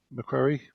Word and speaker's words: Macquarie: Scotland and then to Australia, both went to Macquarie University, I think it's pronounced, in Sydney.